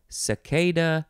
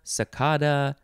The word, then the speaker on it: cicada: backwards wasn't that fun you can pronounce this a few ways cicada sakada sai sai keda you can say that